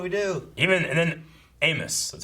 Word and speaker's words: Amos: go what do we do even and then amos that's how you say it right not most amiss amos amos like which is he's just in the